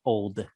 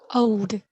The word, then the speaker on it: old: the other word old let me hear the d at the end old old that's it there you